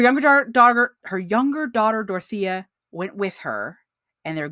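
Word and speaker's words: Dorothea: took her younger daughter Dorothy with her dorthia depending on what pronunciation you want to go with I like Dortha uh her younger daughter her younger daughter dorotha went with her and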